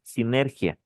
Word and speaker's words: sinergia: Cuando tú mezclas dos anticonvulsivantes, hacen sinergia. ¿Qué quiere decir sinergia? Por ahí anoten, sinergia. Sinergia. Con S, sinergia. Con S y G. Sinergia. ¿Qué es? Y acento en la I.